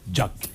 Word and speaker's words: Jack: qui fâche on dit on dit jack ou jacques ça s'écrit jack&jones tir vos parents vous ont appelé jack quand les parents était au low fils fana anglophile ils m'ont appelé jack attend que ces tchèques